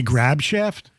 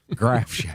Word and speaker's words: Grafschaft: Did you say Grab Shaft? Grafschaft.